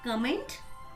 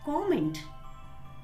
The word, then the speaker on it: comment: Is it comment? No, my friends. The correct pronunciation of this word is comment.